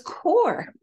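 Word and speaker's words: QoR: the dark and light in others this is core it's pronounced or but it's spelled like it will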